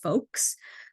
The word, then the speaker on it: FOLKS: food operators and leaders of color in schools pronounced folks uh this is a great community that provides